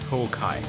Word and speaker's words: Honkai: You pronounce it ho without the N, actually. Honkai. Ooh, I dig it.